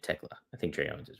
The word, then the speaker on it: Thekla: Thekla equals Tekla. Am I saying it wrong this whole time? Tekla? That sounds like the right way to say it. Tekla.